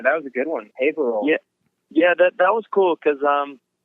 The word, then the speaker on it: Haverhill: Favorite show probably would have to be in Haverhill, Massachusetts. Is that how you pronounce it, Mark? Oh yeah, that was a good one. Haverhill.